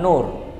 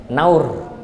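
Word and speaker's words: نَوْر: bait syairibul fibanur bukan Nur naur naur bukan Nur di situ kan naur kan fathah kan jadi eh hafidakumullah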